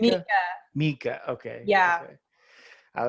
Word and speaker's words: Meika: So how do you pronounce your name? Is it Meika? Mika.